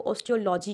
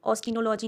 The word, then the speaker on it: ऑस्टियोलॉजी: Study of bones is called as, study of bone को ऑस्टियोलॉजी कहते हैं, ऑस्टिनोलॉजी नहीं कहते, ऑस्टियोलॉजी।